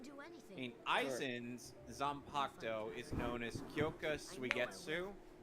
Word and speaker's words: Zanpakuto: Reaper wields, known as Zanpakuto. Oh, of course they don't pronounce the U in the name Zanpakuto.